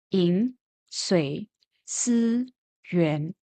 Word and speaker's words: 饮水思源: It is pronounced as 饮水思源.